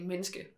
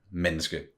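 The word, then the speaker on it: menneske: meniscus but you but you usually don't say the E because Danish you don't you eat a lot of the syllables so it's just you usually just say minski minski yes spelled like that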